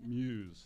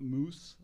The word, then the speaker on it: MUUS: should know it's and it's pronounced Muse not moose or Muse Muse okay